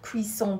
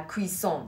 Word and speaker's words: cuisson: Quelle cuisson pour la viande saignante à point? Quelle cuisson? Deux S, ça se prononce S.